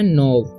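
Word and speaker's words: knob: इसका उच्चारण होता है नो के का उच्चारण नहीं होता है ठीक है तो यहां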